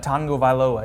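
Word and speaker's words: Tagovailoa: yeah he is uh Tango VOA is how you say it that's there's like a pretend n in there uh Naji Harris the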